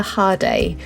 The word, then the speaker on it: Jade: We stayed in Villa Hard and although it's spelled Jade at the airport, we found out the J is pronounced as a H when the customs officer quizzed us on where we were staying.